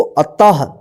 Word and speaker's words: अतः: त के बाद ह उच्चारण होगा, तो एक साथ पढ़ेंगे इसको, अतः, ह सी हंसी, पुनः